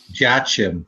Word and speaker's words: Jachin: Jachin. That's the most common pronunciation.